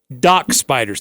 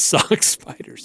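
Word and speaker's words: Dock Spiders: or is it DOC it's doc spiders not sock spiders you just butchered it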